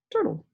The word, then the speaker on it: turtle: doesn't make any noise it's silent so it's just turtle but it can play